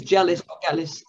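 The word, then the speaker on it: Gellis: you pronounce the name it's a soft g or a hard g because i really enjoyed the novels of roberta gallis and it's jealous um and also of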